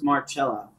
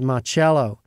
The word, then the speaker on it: Marcello: It was Carlos Marcello. That's right. I was calling him Marcello for about four chapters. But Marcello is the Italian pronunciation.